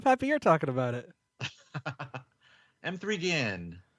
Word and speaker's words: M3GAN: M3 Gan. Right, Tim? That's how you pronounce it?